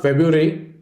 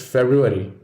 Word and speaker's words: February: next letter is f it is not february it's february we don't like two syllables in succession within r so some of us dump the first one in this word most dictionaries now accept the single r pronunciation but if you have an agile tongue you may want to shoot for the original the next word is